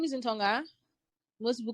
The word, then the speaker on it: Ntongha: to the questions okay uh my name is in tonga most people call me because my name is quite difficult to pronounce uh i'm from crosstalk state i've been